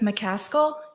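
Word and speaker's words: McCaskill: the record for us my name is mcal and it's spelled m e r e d i t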